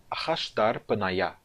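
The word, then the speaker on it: אחשדרפניא: Então eu pronuncio isto como Ahash, mudo aqui, Dar, mudo, P, vocal. Nayá.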